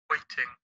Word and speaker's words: waiting: el oído muy afinadito, aquí se pronuncia la T como tal, aún poco suave. Waiting. Y acá, entre las dos I's o I's, se pronuncia la T un poquito como R.